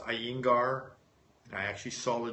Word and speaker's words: Iyengar: One of the best forms of yoga I like is I believe it's pronounced Iyengar.